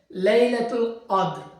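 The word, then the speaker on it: ليلة القدر: এতেকাফ তারপরের শব্দ হচ্ছে লাইলাতুল কদর এটা হচ্ছে কোরআনে ব্যবহৃত দুইটা শব্দ এজন্য আমি বলছি উচ্চারণ হবে লাইলাতুল কাদর তো লাইলাতুল কদর অর্থ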